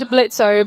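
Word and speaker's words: Blitzø: If Adam and Blitzo both met, how would they react to each other? Well, Adam's a terrible person, but I doubt even he would dead name me. Yes, the O is silent, my dear, and you knew that.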